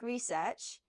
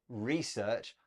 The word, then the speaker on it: research: a note about pronunciation Beth you said research I say research it's just a change in word stress and both are fine now the headline we